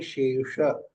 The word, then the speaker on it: शेष: मैंने सीखा श शे श तो षटकोण वाला श ऊपर जाना चाहिए शेष ही बोल देती थी एक सही बोल देती थी इसका सही उच्चारण है शेष हा शेष विशेष विशेष